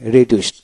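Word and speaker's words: reduced: তারপরে রিডিউস হ্রাস করা, রিডিউসড দিতে ট উচ্চারিত হবে, রিডিউসড।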